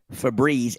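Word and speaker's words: Febreze: FZ no it doesn't the e at the end of it would make it a long e sound what e consonant e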